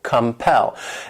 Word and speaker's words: compel: next verb is compel this word has two syllables and the stress is on that second syllable compel and what it means is